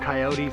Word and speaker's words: coyote: are wild confusing coyotes it's not pronounced coyotes folks it's coyote we got a lesson in that and I was like oh he's wrong its coyote and then we looked